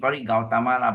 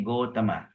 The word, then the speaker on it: Gotama: from the Gautama clan in Sanskrit Gautama but in Pali we say Gotama okay so he that